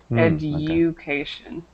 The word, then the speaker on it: education: Make sure you pronounce the U, education.